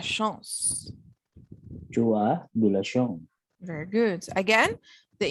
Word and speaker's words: chance: Do not forget to pronounce the medyo sound at the end. Chance. Chance. Because when you say chance, it means another thing.